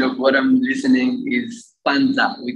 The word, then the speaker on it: panza: p-n sorry p-a-n-d z-ing like panda but with a z in between v and a so